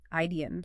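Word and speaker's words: idein: Idian.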